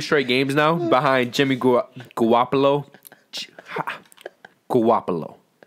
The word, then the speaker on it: Garoppolo: Which, talking about San Francisco, they've actually won 2 straight games now behind Jimmy Garoppolo. Garoppolo. How do you pronounce his last name?